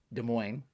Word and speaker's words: Des Moines: Des Moines, S is silent.